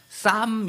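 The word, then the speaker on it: Psalm: 살름 이렇게 읽지 않죠 쌈 이렇게 읽습니다 앞에 p 무음이라 하고 중간에 있는 L 하고 부딪혀서 L 무음으로 읽어서 Sam 발음해서 싸 이렇게에 읽습니다 그런데 사실 이거는 어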